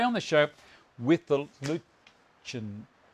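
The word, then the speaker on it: Lutyens: the lutean bench now i've been told it's pronounced luchan i don't know why but you know if you agree that's great if you if you like me i like the sound of lutein it sounds a little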